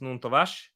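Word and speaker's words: Nuno Tavares: Because he's Portuguese. He's Nuno Tavash.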